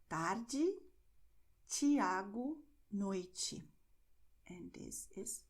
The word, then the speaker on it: tarde: that you have the E always and the E at the end of the word with the sound J, like when you have in English jeans. Okay, which is why you are going to say Diego, tarde, and even desculpe.